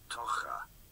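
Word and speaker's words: tocher: these words, hang on, it's spelled T-O-C-H-E-R, but pronounced like oh, why aren't you? Tocha.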